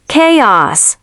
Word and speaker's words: chaos: Chaos.